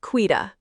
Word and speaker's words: Quita: And my name is pronounced quida.